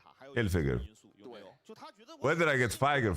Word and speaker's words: Hilfiger: So, it's finger without the end. Hilfiger.